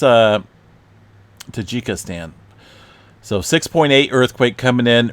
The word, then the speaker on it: Tajikistan: takika Stan tajika stand I believe it's uh Tajikistan so 6.8 earthquake coming in earlier this afternoon